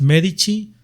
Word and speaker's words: Medici: Pues a mí me encuentras como así en Timmy Alt Medici, así se pronuncia, pero se escribe Medici con la C.